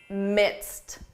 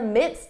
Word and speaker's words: midst: This is a tricky one simply because of pronunciation. When you hear this in spoken English, I'm in the midst of a big project, it's easy to confuse this with mist.